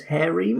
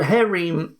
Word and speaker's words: Harem: seems to think that the British English pronunciation is hairy so that's what I'm